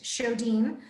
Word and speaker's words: Sjodin: Alabama right so my show Dean it's spelled SJ OD IM swedish so the J is like H show Dean so you'll just go